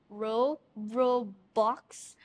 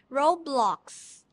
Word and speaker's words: Roblox: Robux? Roblox. Yes. Okay, Roblox. Did I pronounce it right?